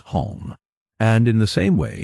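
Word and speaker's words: homme: he learned from Dano, that it was pronounced hong, and in the same way he was taught to pronounce ape, singe, and tree, arbor.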